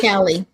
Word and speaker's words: Pichelli: Pichelli? Pichelli. It's Pichelli. just pronounced like a K.